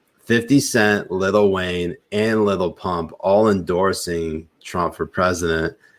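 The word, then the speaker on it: Lil Pump: his rally in Florida he pronounces it little pimp and like has no idea that he's getting wrong oh God that was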